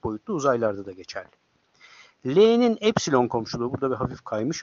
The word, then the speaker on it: epsilon: Yunanlar aslında ipsilon diye okuyorlar ama matematikte epsilon diye okunur.